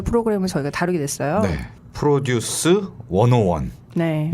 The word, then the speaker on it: 101: 저희가 다루게 됐어요네 프로듀스 원오원네 이거 10이라고 읽으면 안 된다면서요 그게요 스 이라고 읽었었는데 다르더라고요 저를 보니까 hot 하시라고